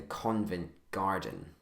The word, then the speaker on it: Covent Garden: convent, and then the Covent Garden. And now the N is silent and invisible.